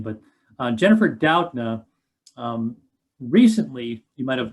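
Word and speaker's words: Doudna: i'm sorry uh d-o-w-d and then like nuh kind of thing that's how you pronounce her last name but uh jennifer doutna um recently you might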